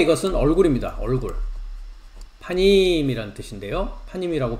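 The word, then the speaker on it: פנים: 파임이라고 발음을 하는데요.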